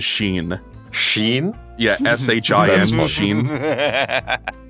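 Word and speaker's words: シン: Apparently in Japanese his name is Sheen.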